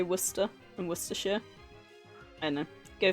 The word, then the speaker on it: Worcester: that one I never got cuz it literally is spelled Wares it's the same as the town War cester but you say Worcester and Wester I know go figure are you